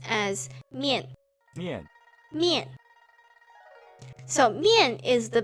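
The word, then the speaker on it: 面: Did you have mian? So when you see this, you just think that it is a bowl of noodles that you are picking up, and it pronounced as mian.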